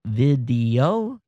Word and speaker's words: Vdio: working a new startup called video vdio pronounced video and they're gonna say